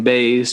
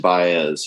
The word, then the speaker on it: Baez: this name too but is it joan baze john oh yeah joan baez yeah joan baez well